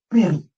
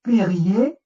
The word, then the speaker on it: pr: translittérant, on fait PRJ, mais en vocalisant, pour prononcer, on va mettre un E muet, ça va faire péri. Et on ne va pas dire, comme tout à l'heure, on ne va pas dire périer ou péri.